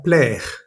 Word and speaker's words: plaire: de este sonido es la palabra faire, hacer, o la palabra plaire, que es gustar. La A con la I suena E. Siempre que veamos la A y la I juntas en una misma sílaba, muy seguramente va a sonar E, ¿vale?